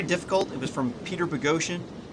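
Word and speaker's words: Boghossian: it was from peter pagosian it spells his name spelled like bogusen and he doesn't like it when you say that um but he he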